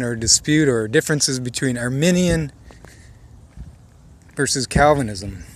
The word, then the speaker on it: Arminian: dispute or differences between our minion versus Calvinism i say armenian not it's spelled I a RM I and I and I'm not speaking of the Armenian nation which is spelled AR and en and so talking about